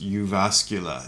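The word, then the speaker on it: Jyväskylä: from august 28 2009 in the city of uvascula in finland i was speaking at a library there and that is actually pronounced you vascula it's a very strange looking word to us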